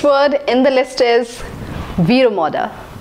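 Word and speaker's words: Vero Moda: in the list is V Ramada V Ramada I've heard people pronouncing it as Vera Moda but that's wrong it is as V Ramada V Ramada is a brand of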